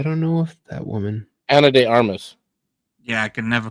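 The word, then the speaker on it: Ana de Armas: Uh, Anna de I can never pronounce her damn name. Anna de Amas. Anna Deamas. I don't know if that woman Anna de Armas.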